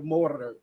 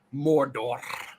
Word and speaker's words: Mordor: of mordor mordor um i keep on hearing the weird pronunciation that they've done since the new bits have come out where they really hit those r's like they owe them goddamn money and it keeps on being mordor and they just roll